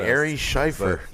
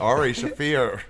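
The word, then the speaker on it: Ari Shaffir: Starring Ari Scheifer. The show is on the 23rd. Ari Shafir. It's spelled the same way, so it's fun.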